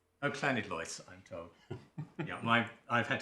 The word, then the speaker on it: Llanidloes: It's Llanlois. Oh, Llanidloes, I'm told. Yeah, I've had to learn some Welsh pronunciation too.